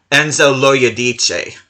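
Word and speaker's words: Enzo Loiodice: offer which I did figure out how to pronounce this guy's name this guy is name Enzo ladich and he is it a French Italian well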